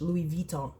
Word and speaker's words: Louis Vuitton: she is the one who says it's actually pronounced here over here in English Louis viton so that's why I say it that way